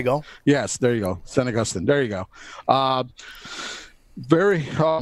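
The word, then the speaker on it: San Agustín: say now goostin binder sorry had Saint Agustin pronunciation hey go yes there you go san agustin there you go very oh man this thing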